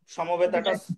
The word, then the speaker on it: সমবেতা: বলব সুচিত সমবেতাবামকবাত সঞ্জয়া উচ্চারণ ভুল হচ্ছে ধর্মক্ষেত্রে কুরুক্ষেত্রে হবে সমবেতাটা সমবেতা হবে আর বাড়িতে প্র্যাকটিস করে নেবে